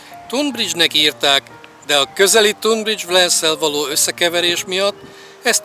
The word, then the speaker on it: Tonbridge: Tunbridge kiejtése és történelmi helyesírása Tunbridge.